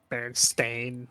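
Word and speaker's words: Berenstain: Oh, the Bernsteeen bears. The way that that's spelled. Yeah. Bar stain.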